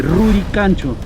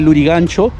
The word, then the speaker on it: Lurigancho: De igual manera, Lurigancho es la variante costeña de Rurigancho, pero aquí en la costa, acá del quechua se pronunciaba como G y la R se pronunciaba como L.